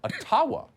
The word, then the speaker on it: Ottawa: let the mayor of ottawa or otawa as it's correctly pronounced in a jibba explain why peaceful truck